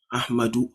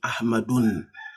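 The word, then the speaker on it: أحمدُ: Ahmadu, have you ever seen Ahmadun? My name is Ahmadun. Okay, you rather see Ahmadu.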